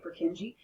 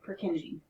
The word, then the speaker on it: Purkinje: are the purkinje fibers it's always sort of interesting to watch how students like to say for kinji i've heard students say per junkie i don't know how you get there but no purkinje now here's how i